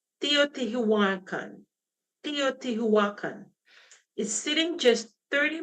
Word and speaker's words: Teotihuacan: San Juan no, let me pronounce this right. Teotihuacan.